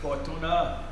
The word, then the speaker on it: Fortuner: That's how they say it in Thai. Fortuna.